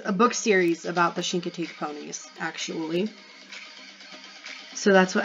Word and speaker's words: Chincoteague: how to say it it's shink oh he so like Sheen but like shank like shank but like shank I don't know how to explain it anyway it's shank Teague Margaret Henry yep Misty